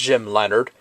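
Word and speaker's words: Jim Leonhard: Jim Leonard or Leonardo R whatever but it's pronounced Jim Leonard he also played for the Jets and I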